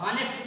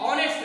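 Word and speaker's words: honest: मतलब आपको नहीं, आप हॉनेस्ट पढ़ रहे हो, हॉनेस्ट हॉनेस्ट नहीं ऑनेस्ट है, ऑनेस्ट आ है इसका उच्चारण, और ये आ से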